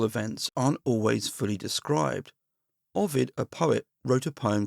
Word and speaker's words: Ovid: I've mentioned him in the previous episodes, and I should apologize actually because there I think I've pronounced him ovid rather than Ovid.